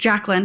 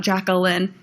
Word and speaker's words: Jaclyn: It's just JACLYN. It's not JACLYN.